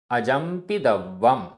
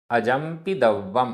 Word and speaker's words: अजंपिदव्वम: जंपदि जंपदि अजंपिदव्वम अजंपिदव्वम आधा व पूरा वा अजंपिदव्वम।